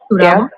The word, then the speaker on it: Turabo: Turabo.